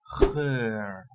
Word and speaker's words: geur: There's also a pronunciation with a little bit longer one, that is for like a scent, that is geur.